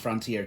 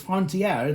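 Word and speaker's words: Frontière: that the Flying Scotsman transmogrified, well, Video Sans Frontier transmogrified into the Flying Scotsman, and I kept mispronouncing it. I was pronouncing it Frontier, which it wouldn't. It's not, because if it was Frontier, then it would be Fortier.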